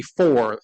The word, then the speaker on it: Foor: My name is Four. It's spelled Foor for the press, and everybody's a number.